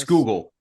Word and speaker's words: Schuylkill: on the Schuylkill River, or how's it actually pronounced, Rich? School us on this. Schuylkill. The Schuylkill River. But that's I thought only it was Scahoikel.